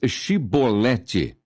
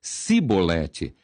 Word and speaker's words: Chibolete: Então lhe diziam: "Dize pois Chibolete." Porém ele dizia cibolete, porque o não podia pronunciar assim bem.